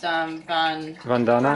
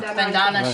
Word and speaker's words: Vandana: Think her first name is pronounced Vandana - - Vandana Shiva.